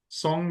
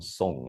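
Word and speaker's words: 松: I think first we need to explain the term song, right? Please do. Yes. Yeah. Song, the pronunciation is in Mandarin and it's also similar in Cantonese.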